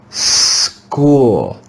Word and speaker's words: school: the sound ch the digraph here makes the sound of the classical k k let's read this word together school school school do you